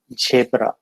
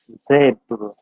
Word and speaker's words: zebra: for example this word generally we find the people tend to pronounce it as jabra but it is not shepherd rather it is zebra so these are the